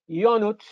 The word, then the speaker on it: Ionuț: In Romanian, it's Ionuț, which means that the J is silent.